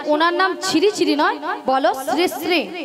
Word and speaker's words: শ্রী শ্রী: কেন আরে মাসি ওনার নাম ছিড়িছিড়ি নয় বলো শ্রী শ্রী কি বল শ্রী শ্রী সিড়ি সিড়ি সিড়ি সিড়ি